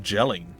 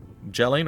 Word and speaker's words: Jelling: powerful things in gutland jelling or yelling as it probably has been pronounced in some fashion it's fine uh has